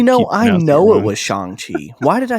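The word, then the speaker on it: Shang-Chi: out before before the eternals yeah oh uh shang chi you got it wrong name nazi it's shang chi it's oh my gosh i just i feel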